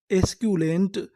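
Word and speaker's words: esculent: क्या पढ़ते हैं क्यू यानी बीच में सी यू लिखा मिले तो आपको क्या पढ़ना है क्यू एल एंटी लेंट पूरी मीनिंग क्या बनी एस्क्यूेंट एस्कुलेंट एस्कुलेंट एस्कुलेंट का मतलब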